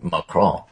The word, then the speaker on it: Macron: Justice points out to me that the proper pronunciation of Macron would be Macron, which, of course, I mangled terribly, but then again, I'm American.